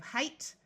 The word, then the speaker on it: height: Note that GH will be silent in these words, just like it is in most English words. So we have height, slight.